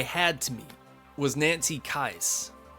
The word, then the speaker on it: Loomis: Now, the only celebrity that I had to meet was Nancy Kais. And yes, that is how you say her last name. Always thought it was Kais.